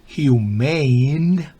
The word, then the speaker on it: humane: human es humano humane o sea human terminado en e ya se pronuncia distinto el primero es human el segundo es humain significa benévolo compasivo luego